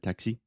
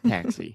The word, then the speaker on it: taxi: And also the word taxi. For some reason, you stressed the last syllable and said taxi or something, but it's taxi. So the stress Taxi, is yeah. on the first syllable.